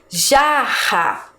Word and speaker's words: jarra: Eu não pronuncio esse R com força. Quando eu vou escrever, ele também está entre 2 vogais. Mas eu coloquei 2 porque a minha pronúncia é forte, ó. Jarra. Então, ele está entre 2 vogais, mas eu pronuncio forte.